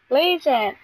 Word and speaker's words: Lesion: Legion, it rhymes with freezing.